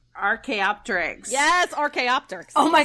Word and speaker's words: archaeopteryx: the um and bear with me on the pronunciation here the akiopteryx archaeopteryx yes rk optics oh my gosh that was